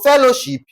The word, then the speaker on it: fellowship: Now, for fellowship, the stress remains on the what now? On the third syllable from the last.